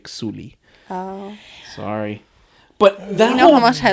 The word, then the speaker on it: Sully: here yeah mhm Jake Suli um that was the the lead guy's name Sam worlington his name was Jake Sully but they all pronounce it J Suli oh sorry but that